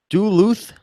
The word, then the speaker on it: Duluth: helping me out here saying Steve it is pronounced do Luth Duluth Duluth Minnesota okay well thank you very much